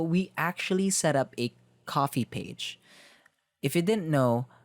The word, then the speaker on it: Ko-fi: So we actually set up a coffee page. If you didn't know, Coffee is a platform that's spelled KO-FI that allows anyone to support their